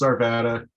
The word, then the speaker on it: Arvada: asks me that and i just tell them to pronounce it however you pronounce nevada yeah so it's arvada about it right so